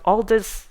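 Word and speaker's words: Aldous: time right but Al Aldis Huxley I think that's the proper way of pronouncing in British way alers not Elders in the American English so anyway so I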